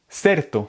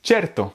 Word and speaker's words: certo: En italien, s'il y a ce mot, par exemple, un espagnol pourrait le prononcer certo. Mais en fait, c'est pas comme ça, c'est certo.